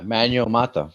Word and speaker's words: Manuel Mata: We just did Manuel Mata. Am I saying that right? Say your name. Yeah, Manuel Mata. Yeah, you said it right.